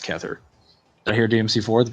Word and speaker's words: Kether: Keither or Kether? Wait. No, I said Keither first. Is it Kether? It sounds like Kether. There's no I in there.